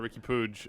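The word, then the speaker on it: Riqui Puig: confirmation i believe that buzzer a confirmation that ricky pooge that we pronounced his name correctly i didn't see a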